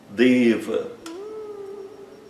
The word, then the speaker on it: deva: Outro exemplo, deva. Deva é um ser divino masculino como Chiva, como Vishno, como Ganexa, deva, né? O e fechado, longo e o a curto fechado. Não existe deva.